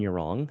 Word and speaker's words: Yurong: my Instagram and it's just my name you're wrong at you're wrong last name is spelled y-u-r-o-n-g for people just listening and then